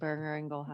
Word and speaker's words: Boehringer Ingelheim: Nice job pronouncing Boehringer-Ingelheim.